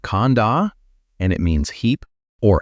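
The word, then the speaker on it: khandha: The Pali word for these 5 categories is khanda. Say it like khanda, and it means heap or aggregate.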